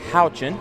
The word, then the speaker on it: Houchin: I've just been corrected on the pronunciation of the quarterback's name. It's Cutter Houchin.